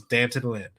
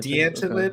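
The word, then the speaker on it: D'Anton Lynn: everyone has said is dant Lyn it's not D ly it's dant ly Danton okay I think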